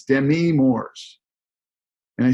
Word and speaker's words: Demi: she had told everyone that her name the pronunciation renamed truely and the French is Demi uh well I looked at the guy and